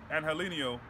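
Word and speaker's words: Angeliño: I will say, Angelino, I found out that's how you say his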